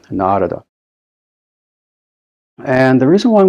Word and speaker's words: Narada: It's not Narada, it's Narada. The first A is long, Narada.